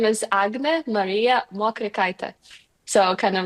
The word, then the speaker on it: Agnė Marija Mokrikaitė: So, so might be complicated for for some to pronounce it correctly, but um my name is Agna Maria Moita.